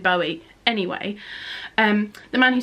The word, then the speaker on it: Bowie: to say his name I say David Bowie but apparently it's David Bowie anyway and the man